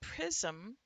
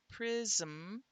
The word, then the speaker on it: prism: In the word prism, prism, it is a syllabic M for which there is no vowel written in that syllable.